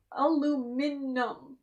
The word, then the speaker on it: aluminum: It's all spelled aluminum. Aluminum. There's not an extra I after the U.